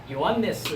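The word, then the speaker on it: Ἰωάννης: 그러니까 요하난을 헬라어에서는 요한네스 이렇게 발음을 한 것입니다.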